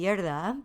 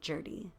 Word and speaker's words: Gjerde: And it's in Norway, it would be Gjerde, but in English, we kind of just say Jurdy.